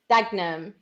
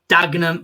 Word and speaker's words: Dagenham: Like, I got told you don't say the third syllable, like the second syllable in Dagenham is Dagenham. Dagenham.